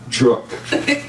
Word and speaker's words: Druch: And my amazing colleague, and I'm going to get the last name pronounced right, rhymes with Brook, Darya Druch.